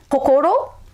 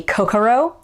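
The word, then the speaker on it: こころ: So Japanese words that use O are oki, kokoro. That's your heart, your soul, or your mind. So the American way to pronounce that would be kokoro.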